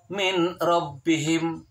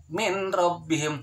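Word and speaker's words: مِن رَّبِّهِمْ: Atau contoh yang lain, yang nun mati ketemu sama ro, tulisannya adalah min rabbihim, nun mati min rabbihim, tetapi tidak boleh dibaca min rabbihim. Seakan-akan bertasydid pada ro, seakan-akan hilang nunnya.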